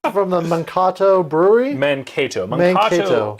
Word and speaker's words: Mankato: Mankato is the correct pronunciation of the word, but when European settlers came over, they called it Mankato, which means blue skunk instead of blue earth.